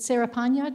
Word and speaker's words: Cerepanya: company is singer serapanya and i forgot to ask you if i'm pronouncing your name correctly is it sarah panya did i say it correctly okay good okay where